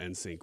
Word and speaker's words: NSYNC: had this morning about insync was that insync not insync it's in sync is an i in but you're saying it like it's just the letter yeah N